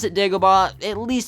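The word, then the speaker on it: Dagobah: with an a not an e if you pronounce it daaba at least spell it d a g o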